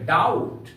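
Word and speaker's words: doubt: का उच्चारण नहीं होता टी के पहले बी आए तो बी का उच्चारण नहीं होता है कैसे जैसे डी ओ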